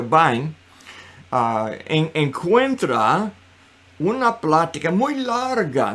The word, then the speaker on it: Vine: de w e vain se escribe como vine verdad pero se pronuncia byne encuentra una plática muy